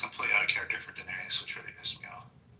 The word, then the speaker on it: Daenerys: Um I know, but I just like it's Daenerys. Oh, Daenerius. I added extra syllable.